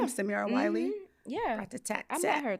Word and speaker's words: Samira Wiley: And we've got Samira Wiley. Wow. Okay. All right. Is that how you say her name? Her name is Samira Wiley.